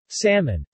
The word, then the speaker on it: salmon: For example, salmon is usually pronounced with a distinct L.